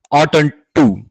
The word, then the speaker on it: ought not to: In British English, ought not to is pronounced as oughten to.